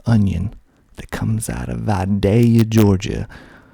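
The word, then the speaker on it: Vidalia: that comes out of vadaya georgia called the vadaya onion you've probably had one before that's what they are most famous for that day it's not vadalia it's vadaya next we got americas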